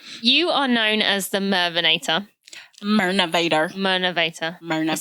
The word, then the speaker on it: Mirnavator: So you are known as the Mirnavator. Mirnavator. I said that wrong. Sorry. Everybody makes that mistake. I don't know why, but it's Mirnavator.